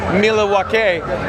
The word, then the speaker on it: Milwaukee: Alice Cooper yes Pete it is actually it's pronounced Milawake which is alangquin for the good land.